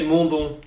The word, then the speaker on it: Mondon: But yeah, the thing is, I think he is French, so you're probably saying it right. So if I say it's Mondon, it's like Mondon. If you say it, how do you say it? In French, I would say Mondon. So that's the proper way of saying it.